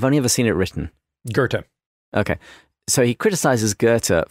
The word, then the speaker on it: Goethe: he goes through Dante, Milton, and is it pronounced Goethe? I've only ever seen it written. Goethe.